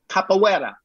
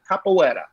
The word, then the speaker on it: capoeira: that we used on Warrior during the big capoeira fighting. And the correct pronunciation is capoeira. Capoeira? Yes, the fighting style, the Brazilian fighting style is called capoeira.